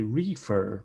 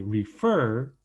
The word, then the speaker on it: refer: the end admitted admitting refer once again we don't say refer we say refer fur is the stressed syllable the last syllable as well and it ends in